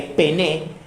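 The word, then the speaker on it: πένης: y se distingue de la palabra pené con acento en la primera e pené en que pené no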